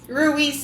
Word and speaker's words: Ruiz: Ruiz is how you say that name.